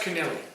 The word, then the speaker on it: Connolly: And Patrick Connolly from Old Eagles on 8. I can't see him catching Sykesy. Pronounced Kennelly. Kennelly. It's a good Irish.